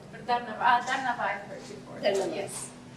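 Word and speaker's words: धन्यवाद: Or Dharnavad. Dharnavad I've heard before.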